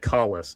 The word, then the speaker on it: Kahless: That's one of many Klingon words whose pronunciation varies depending on which they need in this episode. I like to chalk it up to different cultural pronunciation over time.